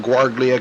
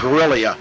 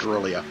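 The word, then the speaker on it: Giglia: I I called him guara cuz that's what we called him for a while yeah gilia that's how it's pronounced gilia I forgot the second g is silent yeah gilia David chut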